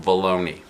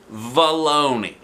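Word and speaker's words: Vallony: guess you know probably his name is probably pronounced baloney to rhyme with Bologna I'll say it like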